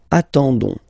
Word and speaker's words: attendons: nous, so O-N-S, okay, you don't pronounce the S, so you get only this on sound, okay, attendons, nous attendons, so we'll